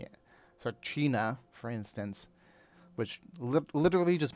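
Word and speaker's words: teine: So China, for instance, which literally just means fire in Gaelic, um, is spelled Tiene.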